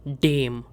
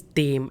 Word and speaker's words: dem: And in dative case, der and das, they both change to dem. Pronunciation is dem and not dem.